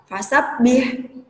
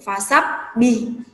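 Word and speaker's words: فسبح: a yang berakhiran huruf seharusnya yang berakhiran ada huruf H ini ya fasabbih tapi ternyata kita kadang membacanya atau terdengar menjadi vasap by huruf hanya diganti dengan huruf H ini termasuk keliru atau salah sangat tidak boleh nginep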